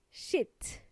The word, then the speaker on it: shit: same, is sheet and shit. Mm-hmm. You have to be careful with this one, okay? If you say it with a short E sound, that would just mean mierda.